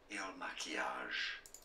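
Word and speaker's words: Il Makiage: How do I pronounce this? Il Maquillage.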